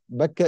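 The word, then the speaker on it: بكة: Bakka is another pronunciation of the word Mecca.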